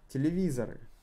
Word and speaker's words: телевизор: So, not emphasized O is pronounced as A.